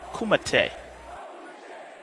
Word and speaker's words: Kumite: your match is a Kumite platform match. Have fun, boys. What? Wow. Both fighters don't seem to care. Not to correct you, boss, but the correct pronunciation is Kumite.